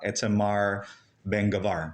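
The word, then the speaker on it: Itamar Ben-Gvir: right politicians like uh correct me if I'm pronouncing his name right his name is uh etar Ben gavar yeah he's he's he's part he's part of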